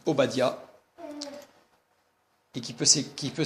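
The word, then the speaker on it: עובדיה: Abdias, un prophète qui en hébreu se dit Obadia et qui peut qui peut s'il s'écrit normalement au badou.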